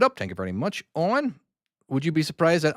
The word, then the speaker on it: Eoin: Owen, would you be surprised that I actually knew how to pronounce his name? Eoin. Eoin is another way to spell Owen.